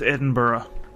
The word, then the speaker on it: Edinburgh: It's pronounced Edinburgh. Edinburgh, what? How is that pronounced, Edinburgh? Because Scotland.